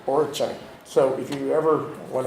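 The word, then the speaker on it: Oroqen: Lulich has done research on a variety of languages, including Russian, Polish, and an endangered language in northeast China and Siberia, pronounced Orichan, right? Orichan.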